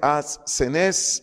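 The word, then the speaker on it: ἀσθενής: débiles débiles del griego ases una d de dedo entre la s y la s as senes acento en la segunda e que significa sin fuerza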